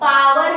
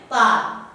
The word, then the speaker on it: power: अब पावर नहीं कहते उसको, उसका करेक्ट प्रोनाउंसिएशन है पार। जैसे शावर कहते हैं तो शार होता है, शार।